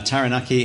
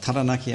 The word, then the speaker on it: Taranaki: the water skiing uh taranaki has got taranaki i should say it's the english coming out i want to talk